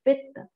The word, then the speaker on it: Pitta: So Pitta is made of another Panch Mahabhut, that is the two element which is making the Pitta, the pronunciation of the Pitta, if not Pitta, is Pitta.